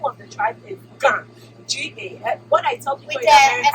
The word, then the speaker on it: Ga: What I tell people is when they can't pronounce it, I say, what is the state for Georgia? G-A.